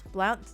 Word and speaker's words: Blount: How are you pronouncing that county? Blunt. Blunt county. Blunt. Blunt county. Blunt. Is the O silent?